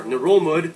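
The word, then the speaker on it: Ngerulmud: ...holds the capital, Melekeok, or Narolmud. Yeah, that's how you pronounce it. That also not how I thought that was pronounced. I've been saying Narolmud for like 2 years now.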